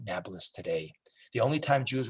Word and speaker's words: Nablus: will become renamed naples arabs can't pronounce peas so they call it nablus today the only time